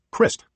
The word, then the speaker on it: Christ: he thought about that he' always used the German pronunciation as his mother's family had Christ like Mist but still his name